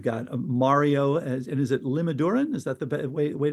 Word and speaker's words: Limaduran: We've got Mario and is it Limodoran? Is that the way way to pronounce it? Lima Duran. Yeah. Lima like Lima Peru. Duran Duran.